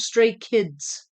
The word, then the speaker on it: Stray Kids: English speaking people tend to think the last letter is silent, which it's not.